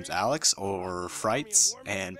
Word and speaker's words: FriteZ: name is alex or frights and people usually mispronounce my name like fritz and and fritis like that's even how